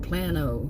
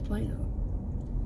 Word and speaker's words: Plano: town in Plano Texas Plano Texas looks like Plano the way it's spelled but it's Plano remember it's what the natives call it and we call it Plano anyway I'm going to